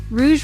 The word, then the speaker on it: rouge: Rouge red or pink makeup for the cheeks. Some pronounce it like rogue. Rouge rhymes with luge.